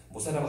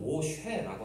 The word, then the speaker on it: 모세: 모세라고 하지만 원어에 가깝게 발음하면 모쉐라고 합니다.